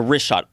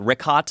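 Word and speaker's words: Richat: I used to call it Rickot. I was mispronouncing it.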